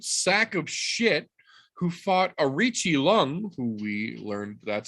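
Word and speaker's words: Aoriqileng: being the absolute sack of shit who fought Arichi Lung, who we learned that's how you say his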